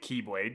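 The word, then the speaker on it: χ-blade: And one on the Kylade. No, I'm not pronouncing it keyblade. They made that really stupid that it's pronounced the same as keyblade and it's very confusing.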